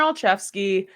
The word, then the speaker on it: Olszewski: be my choice but gunar alfi that's how you say it right I hope I'm saying it right um yes yep gunar alfy he was the NFC